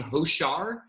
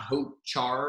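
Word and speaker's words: Hochar: we pronounce the name hoshar the ch makes a softer sh sound it's not hope char or hope car that's their last name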